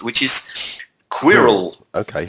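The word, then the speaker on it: Qwilr: and the other one it's almost impossible to pronounce which is Quirrell okay how do you spell this I will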